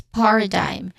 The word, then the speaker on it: paradigm: Pronunciation wise, paradigm. So, paradigm. First syllable is stressed here, par, which has a short ah sound, and then which is a schwa sound.